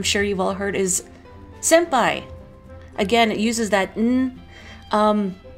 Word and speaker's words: senpai: you've all heard is senpai again it uses that um uh Kana if you're writing it in romaji or in sorry in Kana but it's sem it's more of an M sound Senpai I don't know